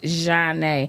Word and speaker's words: Djhona: It's pronounced Djhona, and it's and so and Is it actually French?